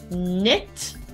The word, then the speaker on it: knit: that initial k sound word number two knit I want to knit you a sweater no pronunciation of that initial k doubt is our third